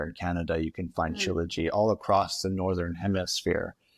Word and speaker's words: Shilajit: then the last product, which I think is really interesting, and I'm gonna mispronounce it, but the I Himalayan know. Shilajit, Shilajit.